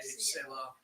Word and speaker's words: Selah: It's spelled the same way. It's S-E-L-A in the Bible. S-E-L-A, Selah.